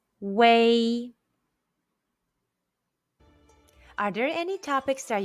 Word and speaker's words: wei: blow in chinese question when you see u e i and w e i in p in how would you pronounce them the answer is way are there any topics